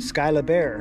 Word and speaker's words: Skyla Bear: And so my wife was like, well, just put bear on the end, make it Skyla Bear. I'm like, okay, sounds good to me. Rhymes kind of rhymes with koala bear, she said.